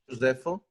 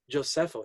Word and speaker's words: Gioseffo: How do you pronounce that name, Matteo? Josefo. What's that? Josefo Zarlino. Josefo. Is that Jeff? It's Joseph. Oh, I It's thought like the Italianized version of Joseph, but it doesn't exist anymore.